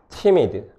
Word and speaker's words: timid: timid. 그리고 빠르게 모음을 발음하니까 숏바울이고요. timid. 그러면 뒤에 뭐가 허용 가능한 온셋이니까 얘도 정답에 해당되고요.